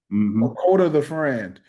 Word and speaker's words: Kota the Friend: Cota the Friend.